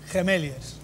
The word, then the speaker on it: Gemeliers: dice gemeliers gemeliers gilis Cómo se dice gemeliers gemeliers vale correcto Por qué se llaman así pues